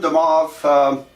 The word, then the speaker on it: De Moivre: And I realize it looks like Moivre's theorem, but Abraham Demov, probably French, but everybody pronounces it Demov in mathematics.